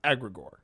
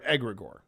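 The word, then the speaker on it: egregore: Uh the the term that I've always known has been agre or egregor depend depending on how you pronounce it.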